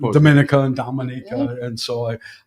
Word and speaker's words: Dominica: So, with your bravery and here you are in the Dominica.